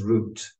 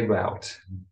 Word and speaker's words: route: buildings the route system the English pronunciation is root but I say route step one pick